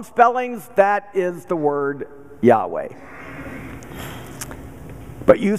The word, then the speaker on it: Yahweh: but you might say the Hebrew pronunciation of the word is Yahweh no matter how you